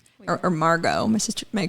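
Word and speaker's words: Margaux: right Megan right or Margot my sister my cousin's name is Margo m-a-r-g-a-u-x okay I don't know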